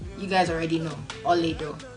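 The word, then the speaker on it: Olaedo: Ol'edo. Spelled it before. O-L-A-E-D-O. Pronounced Ol'edo.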